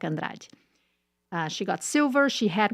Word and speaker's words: Andrade: For people that want to know how to say her name in Portuguese, it's Rebeca Andrade.